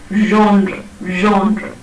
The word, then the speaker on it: genre: think of this word, which is basically a French word, and it's a French word pronounced as genre. So you have the j sound at the beginning of this word, and I mentioned this